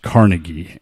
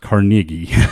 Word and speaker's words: Carnegie: The name Carnegie is not pronounced Carnegie. It's pronounced Carnegie.